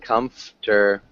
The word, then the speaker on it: comfortable: Sounds like comfortable. Comfortable. Good. Exactly like that. Can you say it quickly? Comfortable. Nope. Comf, uh, comfortable. Good. Comf. Comfortable. Nope. Comfortable. So we kind of make this silent.